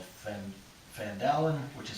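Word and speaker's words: Phandalin: thumbs and what up it was called fan fan Dowlen which is spelled PHA and da li n it's an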